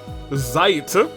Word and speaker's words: Zeit: Uh, and Zite is with long I is a German pronunciation.